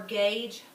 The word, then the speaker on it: gauge: Gauge is weird because it has a hard and a soft G sound in it, and the U doesn't really serve the same purpose as keeping it that hard G sound.